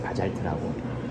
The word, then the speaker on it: Bazalt: 근데 이제 이거를 이제 S 발음이 이제 독일에서는 지바름이 되다 보니까 이제 바잘트라고 제가 듣기에는 그 소리가